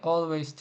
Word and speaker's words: always: And I always travel. Чо слово always прочитали always, а не always? Тому що в англійській мові це в нас було вже на минулих уроках. Читається як all.